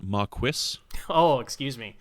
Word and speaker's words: Maquis: Zach, it's pronounced Maquis. Oh, excuse me. Is that like quesadilla?